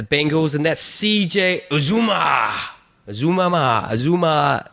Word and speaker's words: Uzomah: Azuma. How do you pronounce it? That's right, isn't it? What? Azuma. Did you say Azuma? Azuma.